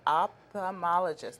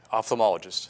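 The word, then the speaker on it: ophthalmologist: bit about yourself I know that you're an optomologist I get that I can't really pronounce that word so you have to pronounce it for me opthalmologist okay and what exactly does that mean for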